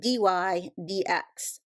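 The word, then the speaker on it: dy/dx: that lebes notation so this is pronounced Dy DX so if I have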